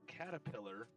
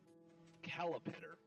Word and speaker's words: caterpillar: So, for her entire life, she mispronounced caterpillar, calipitter, forever, and nobody ever corrected her.